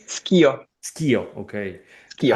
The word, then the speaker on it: Schio: Am I pronouncing it correctly? Schio, Skio, okay.